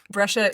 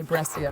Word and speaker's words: Brescia: what you say, but cia in Italian is a ch sound.